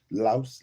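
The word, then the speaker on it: lieus: Louse, L-I-E-U-S. L-I-E-U-S. Lease, not police. L-I-E-U-S. How you pronounce it?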